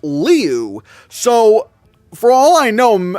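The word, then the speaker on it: Liu: And he said that he pronounced that it's pronounced Leu.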